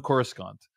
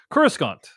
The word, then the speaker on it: Coruscant: the FED yeah so Coruscant wait wait wait was it David are you pronouncing a hard C Coruscant of Correspondence Coruscant yeah apologies Coruscant